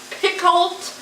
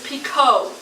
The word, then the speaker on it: Picoult: but you people who've been saying Jodi pick pick cult or pea coat or pick coat you're saying her name wrong her last name is picot it's French it's it's the LT on the